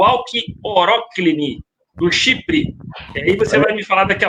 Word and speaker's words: Alki Oroklini: flores isso é o a pronúncia correta é alki oroklini todo mundo confunde normal e a gente